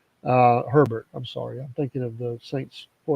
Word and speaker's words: Herbert: Herbert.